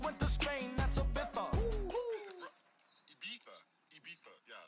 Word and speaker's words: Ibiza: I just went to Spain, that's a Ibiza. Ibiza, yeah, it's pronounced Ibiza, actually.